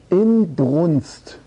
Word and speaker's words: Inbrunst: Es ist in diesem Zusammenhang von Inbrunst die Rede, ja. Ja, also man kann von Glück sagen, dass die Betonung auf in liegt, ja.